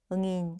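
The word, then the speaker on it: nghìn: 0 3개를 끊고 앞에 숫자 읽고 뒤에 0 3개를 응인 혹은 응안이라고 읽으시면 돼요.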